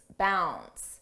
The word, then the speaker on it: bounds: about Leaps and Bounds notice how bounds the D is not pronounced bounds n bounce and here when we